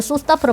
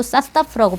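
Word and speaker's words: состав: 강세는 이음절입니다. 그래서 소스타프로 발음하시면 안 되고 사스타프라고 발음을 하시고요.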